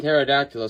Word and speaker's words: pterodactyl: The P and Pterodactyl silent, but if you hire a guy without a mouth to read your mail, every letter is silent.